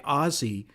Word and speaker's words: Aussie: yeah, if you saw the videos, she talked about the first one is so funny because she would mention DJ Ozzy, which is spelled Aussie.